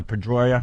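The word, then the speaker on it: Pedroia: boss got the uh Al MVP Dustin uh pedya yeah right that's how you say it yep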